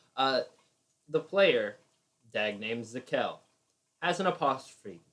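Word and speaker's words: Z'kel: the player dag named zakel has an apostrophe it's z apostrophe kell two syllables easy enough works it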